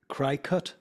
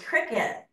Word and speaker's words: Cricut: a crafting company and it's spelled c r i c how do you pronounce that c i c c r i c t cry cut yeah that's what I thought cry cut and for years I pronounced it cry cut and then this woman hired me who is the queen of cut and Abby Christian and then she corrected me and told me it's pronounced cricet I'm like what and